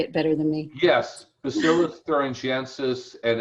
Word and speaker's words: Bacillus thuringiensis: Yes, Bacillus thuringiensis, and it's Israeliensis is the variety.